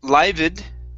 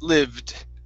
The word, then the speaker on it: lived: next up instead of livid this is lived lived lived okay all right so you're pronouncing this e okay the E should not be pronounced instead of livid it's lived lived lived Liv okay so the